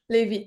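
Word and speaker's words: Lévis: How do you pronounce it? Is it Levy? Levy, yeah.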